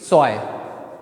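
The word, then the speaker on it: zwei: ध्यान रखना उस चीज की ए और इ आएगा उसकी आवाज कैसी निकलेगी अपने इंग्लिश के आई जैसी निकलेगी कैसी निकलेगी इंग्लिश के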